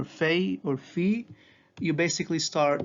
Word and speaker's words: Fei: It's pronounced like an English letter F. So if you see Fei or Fi in a Coptic word, basically think of yourself seeing an English letter F.